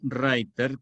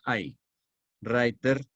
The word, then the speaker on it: Reiter: alemán por ejemplo Blow writer que les Les recomiendo que lo vean Blow azul reiter que se pronuncia writer e en alemán suena I writer que significa jinet El